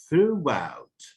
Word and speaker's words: throughout: throughout throughout her life throughout her life throughout her life throughout her life. الاسترس فين؟ on the second syllable.